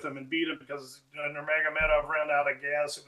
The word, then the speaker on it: Nurmagomedov: Nurmagomedov. He is the cousin to Khabib Nurmagomedov, the ex-great, and that's who trains him. He recently fought Merab Dvalishvili. Dvalishvili toyed with him and beat him because Nurmagomedov ran out of gas.